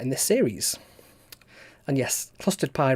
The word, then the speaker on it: Clustered-Pi: And yes, clustered pie rhymes with custard pie.